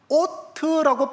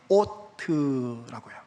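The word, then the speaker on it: אות: 오트라고 발음되는 단어입니다. 오트라고요.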